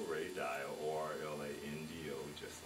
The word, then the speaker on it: Dial: name is ray dial or LA in do just like Florida and dial dia just like the silk okay how are you